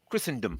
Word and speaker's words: Christendom: Christendom. Sorry. The T is silent.